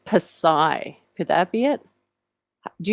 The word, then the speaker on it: psi: Yes, that is Psi.